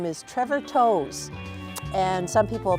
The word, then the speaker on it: Toews: special guest this week his name is Trevor toes and some people pronounce at Trevor Taves but he is a gospel country singer and